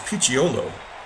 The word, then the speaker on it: Picciolo: And Rob, I think it's pronounced Picciolo, is the proper way to pronounce that.